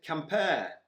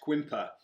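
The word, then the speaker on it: Quimper: of the towns now we've got to be really careful on the pronunciation of this we visited compare not quimpa again just an absolutely beautiful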